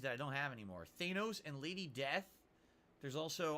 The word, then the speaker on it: Thanos: it back then I thought his name was Thanos apparently it's pronounced Thanos and now we all know that but we